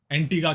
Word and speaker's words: Antigua: तो मैं एंटीगुआ कह रहा था, वो कह रहा था नहीं भाई एंटीगा है।